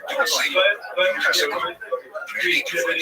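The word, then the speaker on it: Dulce: place there, near the small town of Dulcie, pronounced Dulcie, New Mexico.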